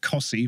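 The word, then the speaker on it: Costessey: I come from Norfolk, where we've got Cossey, which is spelled Costesi, Posick, which is spelled Postwick, Haysborough, which is spelled Happersburg, Hell, which is spelled Lowestoft. Hell.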